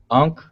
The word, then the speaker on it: Ankh: It's the Ankh, and then the Ankh is a triliteral, so it's A-N, and then how we transliterate it as an X, but it's pronounced Ankh, and then the other